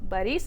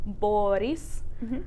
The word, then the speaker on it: Boris: So the emphasis is on the second syllable in that, and so that's why that o sounds like a again. So Boris instead of like Boris.